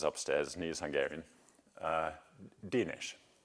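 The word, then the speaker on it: Dénes: at ATA is upstairs he is Hungarian uh denish not Dennis denish and I asked him is it kic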